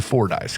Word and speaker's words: Fordyce: that could claim something as famous as the for dice can the very first line of Rolling Stones